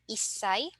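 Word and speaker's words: 一歳: special sounds we have one-year-old isai 8-year-old hassai and 10-year-old juai okay so again please take note that for Sai we have special pronunciation for one eight and then 10 so let's try to pronounce or utter these for our familiarization okay isai n SanSai yonai goai roai n hassai qai and juai okay so next let's go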